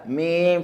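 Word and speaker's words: ميم: There's no heaviness to the meme, therefore the fatha on the meme gets to be light. Ma, not mo, but ma. Ma. Mim fatha ma.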